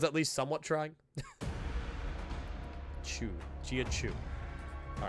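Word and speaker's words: Jia Qiu: By the way, key is pronounced chu. Giau. Okay. And actually know that I just I just kept saying gia key. It at least sounded like I was at least somewhat trying. Chew. Gia chew.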